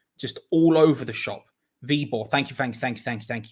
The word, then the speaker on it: Viborg: thing now you two you've started a thing v-borg thank you jumping j flash i am gonna need constant corrections on pronunciation because i am just all over the shop v-ball thank you thank you thank you thank you